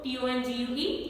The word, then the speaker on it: tongue: like gtst became d-u-e-s-t then t-u-n-g-e turned to t-o-n-g-u-e tongue then v-a-g-e became v-a-g-u-e